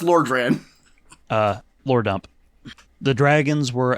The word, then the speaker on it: Lordran: So, It's pronounced Lordran.